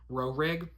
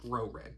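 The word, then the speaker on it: Roehrig: Rorig. R O E H R I G. I don't know what to do with that H. Rorig.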